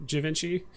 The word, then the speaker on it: Javinci: it right right javinci it's not like davinci or givenchy it's like javinci um i think i